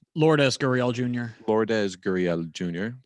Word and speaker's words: Lourdes: How do you pronounce his first name? Lourdes Gurriel Jr.